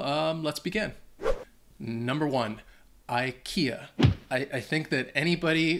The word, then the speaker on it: IKEA: pronounces this wrong because in Sweden they they say if I eeka um and even maybe I still might be mispronouncing it but if you're in the US or or Britain I think most people pronounce it Ikea and that's what they understand Ikea yeah get you some